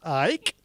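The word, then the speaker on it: Icke: people such as david i am now taught to pronounce ike that would be lizards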